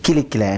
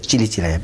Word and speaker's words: Kilikilaya: But it's only it's an ancient form of writing, which if you really know, if you're a scholar, you pronounce it Kilikilaya, not as Chilichilaya.